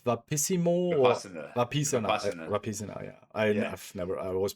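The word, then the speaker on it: Vipassana: Vapisana. Yeah. I've never. I always pronounce it the wrong way.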